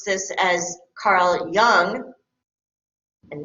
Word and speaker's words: Jung: A very famous psychologist, again, if you want to sound intelligent, educated, you're going to pronounce this as Carl Jung and not Jung.